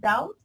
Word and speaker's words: doubt: you to know guys the pronunciation of this word is doubt so again you don't pronounce it this is okay so